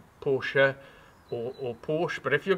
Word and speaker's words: Porsche: So, as you can see, BMW in German is not pronounced BMW, it's BMW. If you can insist that I call this a Porsche rather than just a Porsche, I can kind of live with that.